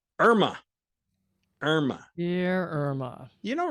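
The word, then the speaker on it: IRMAA: with the second hidden tax which is called Irma that is spelled IR M AA then you will wind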